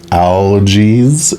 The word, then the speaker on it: Algiz: And this would be, I believe it's pronounced Algiz, A-L-G-I-Z.